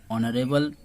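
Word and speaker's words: honourable: ऑनरेबल में एच है, और मैं ये पहले ही रूल्स बताया हूँ कि एच यहाँ पर साइलेंट हो जाता है।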